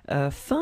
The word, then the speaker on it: faim: Keep in mind that this combination of A, I, M, it will produce the sound un. Okay, which is a really common sound, because we will see that we have so many ways to write this sound, and in that case it's F-A-I-M will be pronounced like faim.